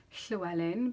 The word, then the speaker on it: Llewellyn: is date book and I can say sure Ellen because I'm Welsh and I know how to pronounce it and I love hearing